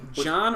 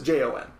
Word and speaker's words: Jean: John or Jean? I've heard it pronounced both in the game, depending on what region you're from. I like to mess around. It's a Jon.